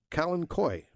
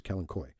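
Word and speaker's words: Kalanchoe: that's the aelas um Kalen koi the uh or keni I've heard I've heard several different pronunciations of Kalen Choy uh but I think the proper name is kenoy and um Ken Koy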